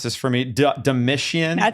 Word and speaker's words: Domitian: Can you pronounce this for me? Domitian? That sounds Domitian, right.